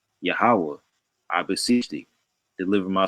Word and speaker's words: Yahweh: And when you look at Hebrew language, this is the Tetragrammaton, and it's pronounced Yahweh, right?